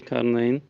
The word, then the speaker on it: Carine: are you thank you it's not too far off uh it's pronounced as carine but that's pretty close so D carine okay